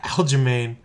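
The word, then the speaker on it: Aljamain: Sterling I think that's how you say it Alain Alain oh yeah it's Aline let's take Alain and uh let's go back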